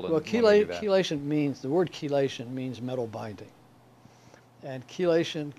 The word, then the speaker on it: chelation: Well, keation means the word keelation means metal binding. And chelation comes and that comes from the word keeli ce the hard C like in chemistry.